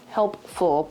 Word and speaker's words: helpful: And honestly, the ways it's most helpful, use your words, helpful to me, helpful, you still got it wrong, helpful, gotta pronounce that P.